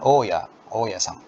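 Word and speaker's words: 大家: Dan oya-san, ya. Kanji dai dan kanji iye. Ya, oya-san ini artinya bapak pemilik kontrakan atau bapak kos-kosan atau ibu kos. Itu bacanya oya.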